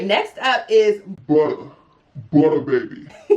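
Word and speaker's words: Buttah: All right, next up is Butter Baby. You gotta say it like that, I feel like. So this is the Butter Baby. It's really butter though, like B-U-T-T-A-H.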